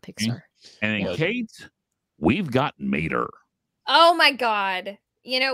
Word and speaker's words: Mater: i love everything about mater it's pronounced like toe mater except without the toe like he is such